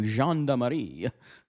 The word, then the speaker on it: Gendarmerie: It is a French word, means police or army. So Gendarmerie.